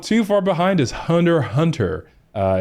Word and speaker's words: Hunter x Hunter: one okay and not too far behind is Hunter Hunter uh it's actually spelled Hunter x Hunter but